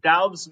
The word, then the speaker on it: Doubs: He is a part of, I know, Dobbs, Doubs, Dobes, whatever. Noah's laughing at me right now, everyone, just because I can never pronunciate any of the guys' names in the league. Doubs makes sense. Doubs is just Doubs.